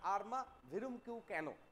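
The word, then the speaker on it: Arma virumque cano: দেখো এই যে আমরা পাচ্ছি আর্মা ভিরুম কিউ ক্যানো, এই যে ফ্রেজটা পাচ্ছি, এটা কি না একটা ল্যাটিন ফ্রেজ। তাহলে দ্য এনেইড, এই দ্য এনেইড এর ফার্স্ট লাইন কি ছিল না, আর্মা ভিরুম কিউ ক্যানো।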